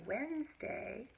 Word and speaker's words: Wednesday: the tape of it so if I say Wednesday witnessed a witness day that's hard to enunciate that clearly and it's really hard to hear all three syllables but there are three syllables in here and we spell it